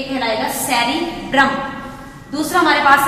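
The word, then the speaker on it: cerebrum: इसको हम कैसे प्रोनाउंस करेंगे? ये कहलाएगा सेरिब्रम।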